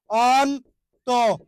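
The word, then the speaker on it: অন্ত্য: আমি নিজেই শুনতে পারতেছি এখানে অন্ত জ ফালা আছে যুক্ত ব্যঞ্জনের সাথে জ ফালা ওই জন্য এখানকার অ এর উচ্চারণটা কি হবে অয় হবে অন্ত অন্ত ওকে অন্ত ঠিক আছে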